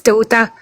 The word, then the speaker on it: Ceuta: With that said, it's Ceuta if you really want to learn how to pronounce it.